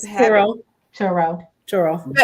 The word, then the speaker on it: Turo: Churro. Churro. Spell it for them, y'all. Turo, right?